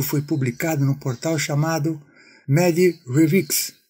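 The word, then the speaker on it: medRxiv: Esse artigo foi publicado no portal chamado MediRevix, que pronunciando-se MediArchive, onde se lê na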